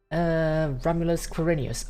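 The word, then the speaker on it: Romulus Quirinus: Romulus Quirinius. Okay, so that's how it's pronounced, yes.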